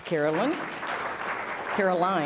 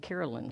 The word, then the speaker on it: Carolyn: This is Caroline, actually. I was around somebody who pronounces it Carolyn, so now I'm going to have to get back to the right pronunciation for you.